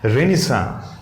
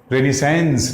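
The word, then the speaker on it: Renaissance: इट is pronounced as रेनिसा, रेनिसेंस न बोल के रेनिसा, ठीक।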